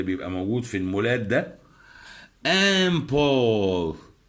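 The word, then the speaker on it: un port: امبور الحرف التي هنا سايلنت. ليه؟ لأن القاعدة العامة الحرف الساكن في نهاية الكلمة لا ينطق بصفة عامة. امبور ميناء بحري.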